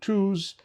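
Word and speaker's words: Tooze: uh an economist by the name of Adam tws who has a wonderful uh podcast uh titled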